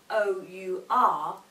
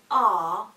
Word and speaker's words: our: However, when people say the word that is spelt O-U-R, they often say R when it should be our.